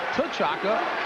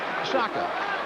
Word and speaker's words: Shaka: His name is actually pronounced T'Chaka, but he says he prefers Shaka.